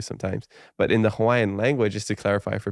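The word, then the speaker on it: Hawaiʻi: you're gonna say Hawaii or you know as locals say Hawaii you know it's you have a different pronunciation of the W sometimes but in the Hawaiian language is to clarify for people who are curious Hawaii is the Hawaiian way to say the word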